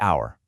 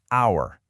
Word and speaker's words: hour: Take our. Starts with an H, a consonant. But the H is silent. The first sound you actually hear is our, a vowel sound.